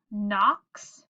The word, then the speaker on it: knocks: Then we have some of our silent letter words. We have knocks, we have knots, and night, and there's night again.